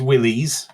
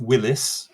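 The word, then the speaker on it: Willys: is the US Army Willies Jeep oh bollock see told you and it is Willies not Willis as people like to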